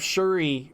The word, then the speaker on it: Shuri: wrestler it's pronounced it's it's spelled s-h-u-r-i that that's how it's spelled it's so like like um chewy no yeah in a way but jeff like hit the r so it's like uh sure sure sure sorry something it's close to that yeah it's like shirty shooty it's it's pronounced different ways but in a way it'll sound it sounds more like shuri that's what i've always